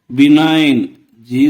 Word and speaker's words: benign: "Benign"—G ఉచ్ఛరించబడదు.